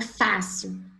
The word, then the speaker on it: fácil: Palavra fácil. É uma paroxítona? É. Fácil. Fácil. Terminou em L, recebeu acento na sílaba tônica dela, na sílaba paroxítona dela.